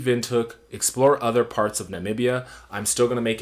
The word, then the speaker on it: Namibia: I've noticed a lot of Americans have trouble mispronouncing Namibia, and so, yeah, it's 4 syllables, and I hope you guys get that.